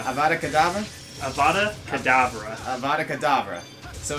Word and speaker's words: Avada Kedavra: I always think this about, like, Harry Potter, how, like, some of the evil wizards are a big deal because they use Avada Kedavra, which they just point their wand and kill somebody, but, like, Muggles have a thing like that.